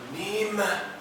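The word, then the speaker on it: Nîmes: Nim. The circumflex.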